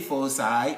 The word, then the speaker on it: foci: foci of today's presentation i say force i as the plural of focus because c in front of i gives us a soft sound focus see in front of you is a hard sound decay so main foci